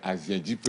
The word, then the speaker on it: Ahiadipe: La prononciation correcte, c'est Ahiadipe.